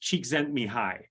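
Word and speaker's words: Csikszentmihalyi: long last name that's pronounced cheek sent me high as in cheeks sent me high that's the uh um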